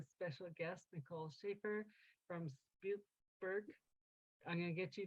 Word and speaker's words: Spiegelbild: the German pronunciation would be Spiegelbild. The Canadian pronunciation is probably closer to Spiegelbild.